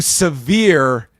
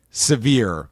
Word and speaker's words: sever: Eric Bischoff do to sever his relationship with me? Oh, did I pronounce this wrong? He pronounced it severe, but it was meant to be sever.